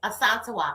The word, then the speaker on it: Asantewa: So, like for example, it was this girl that went to school with me, and her name It's ASANTEWA, right?